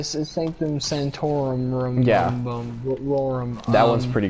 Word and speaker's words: Sanctum Sanctorum: That's probably and, Sanctum Sword. Yes. Oh my god, I butchered that. Sanctum Sword. So the Sanctum Sanctorum.